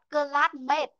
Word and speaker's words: classmate: But not classmate. Chúng ta không đọc classmate nhé. Ở đây là âm ấy này. Classmate. Mate. Classmate. Chữ A này đọc ra âm ấy. Nên là em sẽ đọc là classmate.